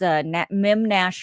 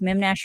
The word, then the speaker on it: Memnash: It was the Beard, Marty Ray, and his brother Jordan had this Mem Nash radio. It's MEMNASH. It is exactly sounds the way it's spelled, the way it's Mem Nash radio.